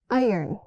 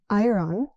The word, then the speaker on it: iron: Iron, not ironon. It's iron. She pressed the shirt with an iron.